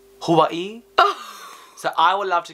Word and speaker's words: Hawaii: the best Hawaii well it's how the the real way you pronounced Hawaii Hawaii so I would love